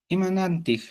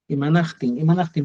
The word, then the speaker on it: imanaqtin: Imanantij, Imanaqtin, pronúnciame bien, imanaqtin.